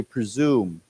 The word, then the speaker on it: presume: say it together here this s has a z sound to it so we say presume okay so why don't